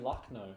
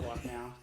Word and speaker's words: Lucknow: All the ads say Lucknow. I don't But you really can't care. just- It's Lucknow. What? It's no can. N-O-W is pronounced no, apparently.